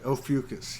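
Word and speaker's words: Ophiuchus: How do you pronounce that? Ophiucus, Ophiucus, or that's right. Ophiucus, yeah.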